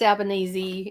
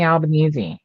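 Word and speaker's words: Albanese: you go as Anthony alanes for Halloween or do something Australian for oh no that's alany that's albanesi it's pronounced Alban Alan Anthony albanesi that's our prime minister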